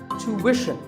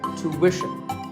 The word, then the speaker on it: tuition: British but after that it's not ition its mission tuition you have to put a work sound so tuition word number 41 is